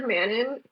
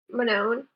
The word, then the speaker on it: Manon: where's the catch versus other new characters like Manon Manon man man and Manan it's it's man on